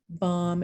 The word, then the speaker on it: bomb: morphemes so for instance look at these silent letters in sign bomb and him you might be thinking why can't you just drop the silent letter but look what happens when we get signature bombardment and him no okay and now all of a sudden i hear that silent letter okay so you don't